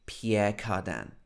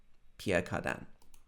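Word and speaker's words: Pierre Cardin: pierre cardan of course this is not the correct french pronunciation but we like to make everything sound english so in england it would be pierre cardan pierre cardan okay so we've talked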